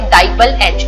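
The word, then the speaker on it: DIBAL-H: तो इनमें एक रिएक्शन है रोजेनमुंड रिएक्शन, स्टीफन रिएक्शन, और रिडक्शन बाय डाइबल H, इसको प्रोनाउंस करते हैं DIBAL, डाइबल H।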